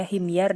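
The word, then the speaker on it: حمير: Oh, bukan Humair, bacanya Himyar deh, suku Himyar. Akhirul mulukil Himyar. Himyariyin tadi bacanya.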